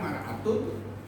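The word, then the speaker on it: امرأة: Tulisannya sama. Bacanya saja, kalau fathah mar'atun perempuan, kalau mir'atun apa? Cermin.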